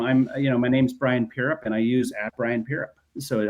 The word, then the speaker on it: Brian Pierrepont: So if you're Instagram I'm you know my name's Brian Pierrepont and I use @BrianPierrepont.